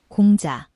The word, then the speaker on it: 공자: In Korean, it is pronounced, 공자, in Japanese, 講師 and in Mandarin.